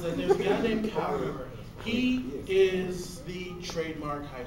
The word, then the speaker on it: Kaoru: Well, how would you pronounce that last one, Teddy? It's Kaoru.